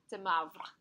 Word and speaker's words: de Moivre: She said, de Mavre.